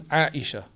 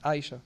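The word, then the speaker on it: عائشة: Second one, Aisha. Again, very difficult because you have to say the ayn.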